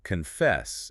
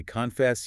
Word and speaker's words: confess: Therefore, the stress must be On the second syllable. on the second syllable. So it is not confess. No. If you say confess, you sound unnatural. It breaks the rhythm of the language. You have to glide over the first syllable. It becomes almost a non-sound, a schwa, and hit the second syllable hard. Confess.